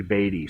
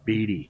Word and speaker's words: Beatty: Most people say, even our own employees, will say Beatty, so either one flies, but the correct pronunciation, and I try to stick with it, is Beatty.